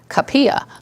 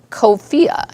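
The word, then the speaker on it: Cuphea: when you see it it's spelled CU p h EA and you may think that's called capilla right but it's cofee is how it's pronounced so some of those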